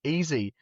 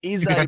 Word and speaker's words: Izzy: Like, easy, I'm like, it's Izzy, bro, it's Izzy. Yeah, until you're like, easy, like no, Sunday morning, I'm like... Yeah, he's probably looking at that, just sharing it, going, yeah, somebody's supporting me, not realizing, bro calls me easy. No, I know his name's Izzy, but it's just like, and I say Izzy like Sunday morning.